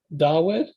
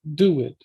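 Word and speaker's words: דָּוִד: And for David, it's so I think in like Biblical Hebrew they pronounce it as Dawid, but originally it would have been pronounced Duwid with a U sound.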